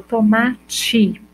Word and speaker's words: tomate: Quando eu falo tomate, eu tenho o I no final. Quando eu pronuncio com I. Tomate, só que eu escrevo com E, não é? Tomate.